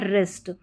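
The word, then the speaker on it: wrist: फिर देखिए नंबर 4 पर W साइलेंट, WR के कॉम्बिनेशन में W साइलेंट रहता है, जैसे राइट, रॉन्ग, ठीक है, W साइलेंट, और ये है रिस्ट।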